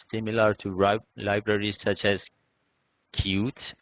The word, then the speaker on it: Qt: to libraries such as Qt, which is written as Qt but usually pronounced as Qt, GTK, WX Windows, and Microsoft MFC.